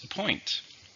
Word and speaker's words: appoint: Okay, the next word is appoint. Appoint means officially give someone a position or a job. It's a verb. How many syllables? Appoint. 2. Stress in the second syllable.